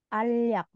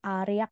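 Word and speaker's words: 알약: ada obat tablet nah ini bacanya alak Jadi bukan ariak ya biasanya kan kalau bacim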